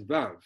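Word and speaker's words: וו: And then the next one, you pronounce this letter as V as Vav, and then you pronounce the Hey as Hey.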